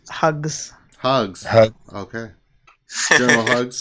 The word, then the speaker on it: Hux: It's actually pronounced Hugs.